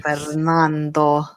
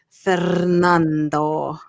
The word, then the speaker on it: Fernando: Fernando. Hola. Say it. Say it with your accent. See, I did actually a skip. You need to roll your R's. Fernando.